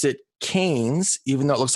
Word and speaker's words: Cairns: was the northern part of Australia, and they pronounce it Cairns, even though it looks like it's spelled Cairns.